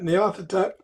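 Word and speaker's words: Nyarlathotep: My my answer is uh you have to correct me on my pronunciation here Mike but it's narathoteep. Ah yeah yeah yeah yeah yeah. Nathotep is uh a very viable one.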